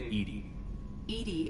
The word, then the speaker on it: EDI: why are you named edie the phonetic pronunciation of edi that is an acronym for enhanced defense intelligence where are you my